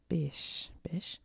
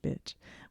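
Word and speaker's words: Bich: The French company Bish changed its name to Bic to stop people in English-speaking countries pronouncing it bitch, which is what I almost did.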